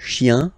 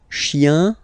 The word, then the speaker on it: chien: Remember, chien, singular form, chien, same pronunciation, but you put this S, okay? Final S, not pronounced.